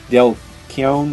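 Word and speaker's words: Dale Keown: Also, you need to see if you can find the awesome Del Keown, is that how you say his name?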